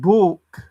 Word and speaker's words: balk: And balk. Not walk. Doesn't rhyme with walk. Balk.